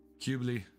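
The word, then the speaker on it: Qubeley: MK2 and and a Quibbly. I want a Quibbly. Quibli, depending on how how you say it.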